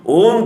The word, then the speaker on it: ओम: म अक्षर लेने से अ प्लस उ प्लस म इज इक्वल टू ओम, यह संयुक्त उच्चारण हो जाता है।